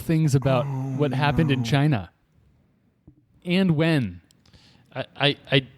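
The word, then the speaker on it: Qin: n sorry q q i n or the Ching Dynasty q i n g can I just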